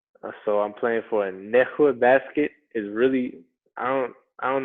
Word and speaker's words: Nässjö: So I'm playing for a Nässjö Basket. Is really I don't know how they get that. It's spelled Nassjo, but it's pronounced Nässjö.